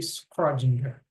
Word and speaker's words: Schrödinger: Uma vez eu pesquisei no YouTube e eu vi que acho que a pronúncia mais correta seria Schrödinger, né?